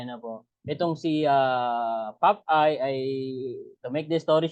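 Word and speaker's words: Popeye: Ano po si pap ang pronunciation po pala non Pap eye hindi papay Ewan ko kung may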